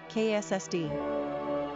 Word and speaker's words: Cassidy: Number of syllables, 3. Ranking popularity, 250. Pronunciation, KSSD.